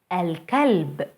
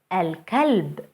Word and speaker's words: الكلب: الكلب, الكلب, the dog.